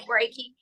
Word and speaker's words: Reiki: mispronounce it or say it you know you're pronouncing it right Reiki and the thing of it is is that